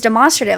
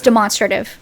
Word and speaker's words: demonstrative: But I was actually right. They were the ones that were wrong. It is demonstrative. If you're demonstrating something, it is demonstrative of.